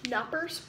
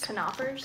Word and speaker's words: Knoppers: okay next snack knoppers Nappers Nappers a waffle sandwich filled with nougat and milk cream FYI the K is not silent it's pronounced kers canoers canoers well okay then